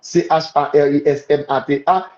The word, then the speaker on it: charismata: matamoton en en grec Nous va ça mata c h a r i s m a t a i moton i a m o t o n g prononcé charismata il a mon c'est les dons